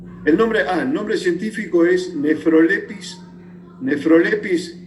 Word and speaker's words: Nephrolepis: Nephrolepis es PH, ¿no? F se pronuncia F en latín, pero es PH.